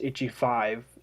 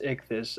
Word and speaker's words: Ichthy5: to pronounce my name they think it's itchy five and it's not it's it's ick this i even put the